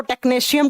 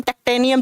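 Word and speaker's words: technetium: हैं बच्चा एक टे इसको टेक्नशियम टेक्टेनियम जैसे भी आप टेक्टेनियम या टेक्नशियम ऐसे आप प्रोनाउंस कर सकते हैं जैसे भी आप प्रोनाउंस करें जैसे अगर हम बात करते यह रहा टीसी।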